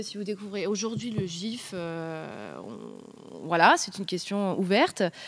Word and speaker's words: GIF: dis rien donc déjà d'un point de vue purement français parce qu'ici on aime bien la France la prononciation ce serait gif il y a pas de U entre le le G le i donc techniquement c'est gif du coup bah non